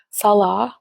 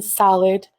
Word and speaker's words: Salah: go after my family they mispronounced my Syrian husband's name Salah which means prayer in Islam by the way they call him salad right in her thumbnails I reported it to